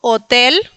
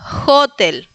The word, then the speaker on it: hotel: La H en polaco no es muda como en español. se pronuncia como una jual que la ch. La ch vimos en joroba, ¿no?, que se pronunciaba J. Lo mismo se pronuncia la H. Entonces, nosotros diríamos en este caso hotel, pero en polaco es hotel. Recuerden que es J.